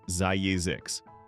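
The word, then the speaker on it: Zzyzx: California is home to a town named Zzix, pronounced Zyzix.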